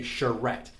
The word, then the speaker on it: charrette: about that word back there and how you pronounce that word first of all that word is called a charrette and today i'm going to talk about what a design charrette is some of you might already know uh